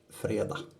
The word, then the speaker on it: fredag: I'm sorry, but it says fredag. That's an F-R-E-D-A-J. Fredag. Because we never pronounce the G in our weekdays.